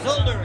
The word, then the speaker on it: Zolder: And so, tell us about what's happening at the third beer experience in Zolder. Am I saying it right? Yeah, you are. It's Zolder.